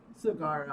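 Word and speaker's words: Saguaro: No go for I don't even know how to fucking pronounce that word. Damn. Basic- Cigaro? Basically, Cigarro. it is a cactus. Cigarro.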